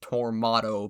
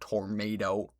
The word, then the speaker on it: Tormato: That's pronounced Tormato, by the way, not Tornado cuz it's British.